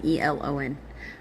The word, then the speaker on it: Elon: the Seredite clan, through Elon. Sered s e r e d. Elon e l o n. Uh through Elon, yeah, just like that guy, the Elonite clan, through